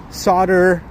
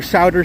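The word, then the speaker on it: Sauder: a course through the Solder School of Business. S A U D E R Ser School of Business I believe it's pronounced.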